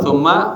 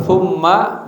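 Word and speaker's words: ثُمَّ: Kemudian ditertib dia kalau tsamma hunaka tsamma baitun hunaka baitun di sana ada rumah tulisannya sama tapi beda bacanya bimana huna di sana kalau tsumma bimanna kemudian ya nah ini perangkat ya ba'duz zurub w ruhiba minz Ya, sedikit tuh ya.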